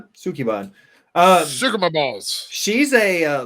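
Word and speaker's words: Sukeban: I put the name in there so I could see if you'd pronounce it. Sukuban? Sukiban.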